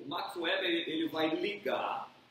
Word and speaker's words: Weber: Então, pronunciar tem que dar um nó assim na língua, né? Weber.